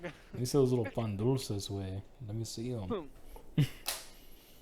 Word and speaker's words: pan dulce: Let me see those little pan dulces, way. Let me see them. Also, it's pronounced pan dulce with a du.